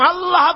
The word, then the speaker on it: আল্লাহ: আল্লাহ পাকের উচ্চারণটা হচ্ছে, আল্লাহ পাকের নাম উচ্চারণ হচ্ছে আল্লাহ। মুখটা একটু গোল হয়ে যাবে, বলেন আল্লাহ আল্লাহ।